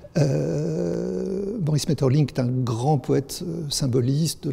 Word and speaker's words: Maeterlinck: tout de suite maurice maeterlinck metals suivant qu'on cherche à s'approcher ou non de la prononciation flamande maurice maeterlinck d'un grand poète symboliste